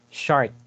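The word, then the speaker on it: Chartres: short cathedral in shark friends but the correct pronunciation is shard chart is a place in france cathedral so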